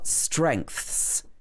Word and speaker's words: strengths: If you want to talk about the most important skills that you have, you can say your core strengths. Watch the pronunciation of this word.